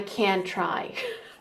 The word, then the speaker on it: can't: hear the difference because when they say can't can't they make the vowel sound much more abrupt can can can can